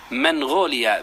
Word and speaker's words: منغوليا: وقد سألت عن النطق الصحيح عند أهلها، فوجدتهم ينطقون بها منغوليا بإثبات النون.